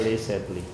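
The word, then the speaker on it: Le Chatelier: Ada yang disebut dengan prinsip Lay Lay Set ya. Jadi bacanya L setle ya.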